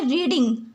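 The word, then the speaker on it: read: Spelling तो same लिखी जाएगी लेकिन इसकी प्रोनंसिएशन अलग हो जाएगी। इस रीड को जब थर्ड फॉर्म में लिखा जाता है तो उसे रेड पढ़ा जाता है।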